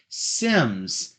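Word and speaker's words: CYMS: Sims. C-Y-M-S. Big C, little y, big M, big S. And it's pronounced Sims.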